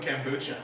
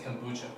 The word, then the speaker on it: kombucha: gonna drink me some kombucha. I don't even think you're saying it right. I think it's kombucha. Kombucha? Kombucha. Kombucha. You never say it like that. Why'd you put that emphasis on it?